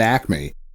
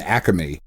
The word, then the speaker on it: Acme: just shoprite and an acme or if you're an and acamey that syllable is not there how dare you nope